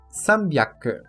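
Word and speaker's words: 三百: A leitura byaku neste kanji é exclusiva para uso na pronúncia do número 300, que é sambyaku.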